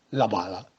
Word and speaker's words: balla: Nel milanese le consonanti doppie si scrivono, ma non si pronunciano. Esempio, la palla si scrive la balla con la doppia L, ma si pronuncia la bala.